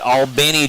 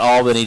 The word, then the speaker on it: Albany: moved up here to let me say it right ALB Georgia not Albany Georgia from Florida so wishing